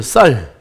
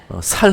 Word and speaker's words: 쌀: 쌀. 살 하는 사람 있어요? 경상도 분들은 이 쌀 발음이 안 나오죠.